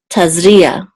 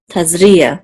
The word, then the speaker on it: Tazria: Taz Tas foreign we have the iron which is silent and then the ah tazria tazria the accent is on is in the middle